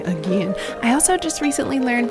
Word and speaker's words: Aegean: so he pronounced it my professor pronounced it again so i'm going to say again i also just recently